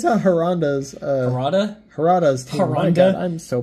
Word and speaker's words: Harada: You're pronouncing his name differently every time you say it. I've lost track of how many different ways you say it. It's Harada, and I'm sorry, okay?